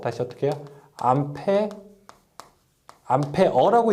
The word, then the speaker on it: 암페어: 암페어라고 읽는 것이 일반적이고요. 외부에서는 이제 외부라고 하는 것은 이제 비표준어로서 암페어, 암페르 여러 가지 말이 있는데 보통 우리가 암페어라고 읽게 됩니다.